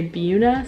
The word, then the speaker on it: Buena: in buena vista virginia i like saying buena vista but the locals say buna so that is what i'm gonna say it's a really small